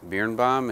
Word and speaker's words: Biernbaum: rolling just start with your name and then spell it for me please okay my name is bebom it's b as in boy i e r